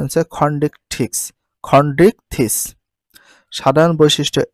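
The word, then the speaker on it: Chondrichthyes: উচ্চারণ correct pronunciation ফেট্রোমাইজন তারপরে দেখো দ্বিতীয় শ্রেণী কন্ডিক্স থিস তাহলে সঠিক উচ্চারণ হচ্ছে খন্ডিক খন্ডিক থিস সাধারণ বৈশিষ্ট্য এ পর্বে সকল প্রাণী সমুদ্রে বসবাস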